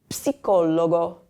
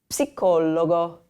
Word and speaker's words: psicologo: But in Italian, when you have the PS combination, you say ps, sort of like you're whispering to somebody.